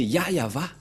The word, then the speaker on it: Yahvah: Dieu ni y avé mais le nom que Abraham et Moché l'ont appelé c'est très clair c'est yayava voilà donc Abraham le